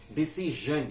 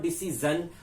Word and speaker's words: decision: and SH sound and when you add SiO into the verb to make it a noun it is normally a sure sound it is a J with a slight egg sound to it so it's because George it's not a juror song it's not as ER sound it's sure so it's decision it is not decision or DC John it's decision it says